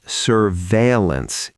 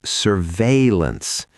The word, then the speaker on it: surveillance: This one catches a lot of people off guard. It is not surveillance, it is surveillance. 2 syllables in the middle, not 3.